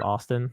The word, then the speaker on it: ASTN: my actual name so i knew i wanted to be pronounced austin like i didn't want